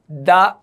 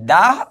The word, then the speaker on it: the: থেকে আমরা দি টিচার বলবো না আমরা বলবো দা টিচার ওকে তাহলে এই গেল যে দা হয় কনসোনেন্টের পূর্বে মানে টি এইচ ই টি